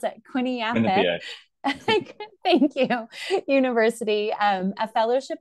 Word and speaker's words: Quinnipiac: He'll have to tell me how to pronounce it. Quinnipiac.